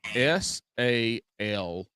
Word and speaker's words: salmon: How do you say the word SALMON?